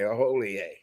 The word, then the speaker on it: Hollier: Okay, Hollier. Okay. Yep. H is silent. I-E-R makes an H sound. It's French.